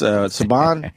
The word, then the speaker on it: Subban: I guess Subban?